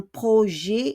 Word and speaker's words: projet: So, un projet is a project, but we don't pronounce the T.